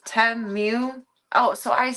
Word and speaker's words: Temu: It's Temu. Oh, so I say it right. Well, not the moo. I say mew, like a cat instead of cow.